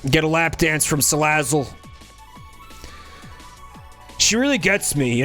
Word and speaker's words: Salazzle: I mean, like, the word sleazy is in the name for Salazzle. Salazzle. Like, it's sleazy. Like, you just want to say it like a sleaze bag.